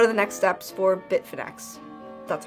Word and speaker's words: Bitfinex: money and what are the next steps for Bitfinex.